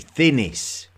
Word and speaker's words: Thinis: He's tried to spell it 6 times. It's actually Thinis.